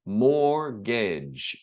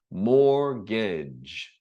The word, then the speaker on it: mortgage: Finally, mortgage. So, don't again we uh here we drop not the B but the T. Mortgage. No T. Mortgage.